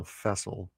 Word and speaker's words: Fessel: And it was vessel with an F. So Fessel was how you pronounced it. What did I say? Facil.